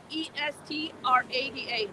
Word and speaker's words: Estrada: Oh, accent on the U, Estrada like the actor, Estrada. Thank you, Paul.